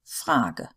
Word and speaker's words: Frage: Now, E at the end of a word usually does get pronounced. So no silent E as in English, but it is a short E. So Ente, Bohne, Frage. Not very long sounds, but they are there.